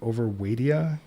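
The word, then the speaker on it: Overwaitea: And then we moved to, I'm going to mispronounce this, I think it's the Overwaidia Oh, complex. Overweighty.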